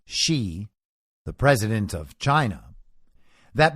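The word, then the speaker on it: Xi: One of its 4 core partners, Pentagon-funded Graphica, explained in a report about Fauci, and it's spelled Fauci, X-I, as in she, the president of China,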